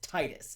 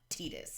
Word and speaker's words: Titus: in kingdom hearts it's titus it's not tedious it's titus it's titus it's been titus since final fantasy 10 10 2.